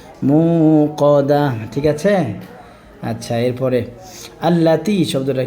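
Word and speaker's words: ٱلَّتِي: তাহলে আল্লাতি, তাই আজের তি, এখানে 1 আলিফ টান হবে। কত আলিফ টান হবে? 1 আলিফ টান হবে এখানে।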